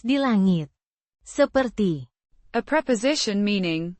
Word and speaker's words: langit: Pronounced. Langit.